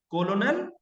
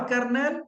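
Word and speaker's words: colonel: कोलोनल और कर्नल और कर्नल।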